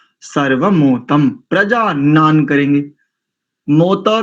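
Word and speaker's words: प्रजानन्: और प्रजा नाम नहीं करेंगे, संहिता में प्रजानान तन में प्रजानान ऐसा उच्चारण करेंगे।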